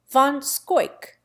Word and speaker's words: Van Schaik: Van Schaik, an old New York name, is pronounced Van Scoik.